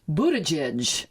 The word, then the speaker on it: Buttigieg: happens to be presidential candidate and mayor Pete Buttigieg, 37 years old this week. You pronounce his name very well.